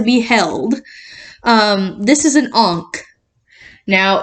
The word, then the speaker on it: ankh: This is an Ankh. Now, it's spelled out A-N-K-H. It's not Ankh. It's not Ankh. It's Ankh. And that's how the Egyptians pronounce it.